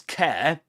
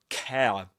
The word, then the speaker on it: care: In RP, it used to be pronounced as care, air, with a diphthong air, careful. But you'll notice that Luke and other speakers of Southern Standard British English say careful.